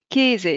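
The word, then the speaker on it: Käse: ولات اي في النطق مثلا كيز الكلمه هذه ما نقولوش كاز لا غلط كيزي اللي هو الفروماج كيزي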